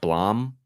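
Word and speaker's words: Blame!: Like I don't think it's animated, but Blam, I believe is how it's pronounced, but it's blame with an exclamation point.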